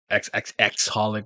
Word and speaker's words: xxxHolic: you're into holic um xxxholic well I don't think you pronounce the X's which is the other